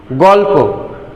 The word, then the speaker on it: গল্প: আবার সেই 3 নম্বর নিয়মে বলছে শব্দের শেষে যুক্ত বর্ণের অধ্বনি সংবৃত উচ্চারিত হবে। যেমন রক্ত, আগের উদাহরণটাও কিন্তু আমরা এক্ষেত্রে ব্যবহার করতে পারি, রক্ত। গল্প, অত্যন্ত।